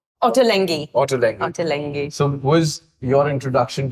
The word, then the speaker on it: Ottolenghi: But coming back to, how do you pronounce that chef's name? Ottolenghi. Ottolenghi.